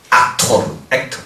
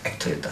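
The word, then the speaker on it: actor: 악토르. 액터였다 싫어. 악토르. 마스터. 영국 사람들은요, 미국식 발음하는 사람을 싫어하더라고요.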